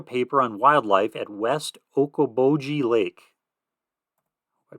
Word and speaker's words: Okoboji: He said he was writing a paper on wildlife at West Okoboji Lake. I pronounced that right.